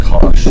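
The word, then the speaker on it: cosh: And this is pronounced kosh. I don't know how to spell that. Kosh. Rhymes with gosh.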